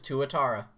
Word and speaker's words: tuatara: by the way guys brace yourself google is going to pronounce this for me tuatara it is tuatara thank you google the ssc tutu anyway um